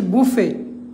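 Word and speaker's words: buffet: এরকম আরোটি সাইলেন্ট আছে যেমন হচ্ছে বুফে বি ইউ এফ এফটি বুফে এখানে হচ্ছে টি সাইলেন্ট এখানে টি এর উচ্চারণ নাই এখানে টি উচ্চারণ নাই এরপর দেখেন বিলিয়ার্ড বিলিয়ার্ড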